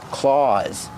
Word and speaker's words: claw: These are called claws. These are the bear's claws. I don't have claws, I have fingernails, but bears have claws. Pronunciation, use the aw sound like saw and law.